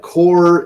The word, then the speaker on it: corps: New Yorker but but core is yeah we don't we don't it's a French word and we don't pronounce the p and the S so it's just c-o-r